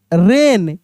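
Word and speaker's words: wren: रीथ डब्ल्यू आर ई एन रेन क्या पढ़ दिए? रेन देख रहे हैं ना लिखा है डब्ल्यू आर इ एन लेकिन पढ़ रहे हैं हम लोग रेन।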